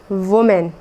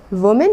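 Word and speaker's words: women: इसको वुमेन नहीं कहना है, बल्कि आपको कहना है विमेन।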